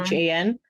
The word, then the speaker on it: Keoghan: I can't pronounce his name. Do you want to share it? Or? Keoghan.